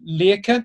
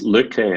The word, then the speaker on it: Lykke: certainly first of all most importantly did I pronounce the name right Leah Kent is that correct it's Luke Lee I mean kind of you know some many